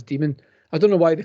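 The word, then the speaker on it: daemon: called an http and that's demon that's pronounced as demon i don't know why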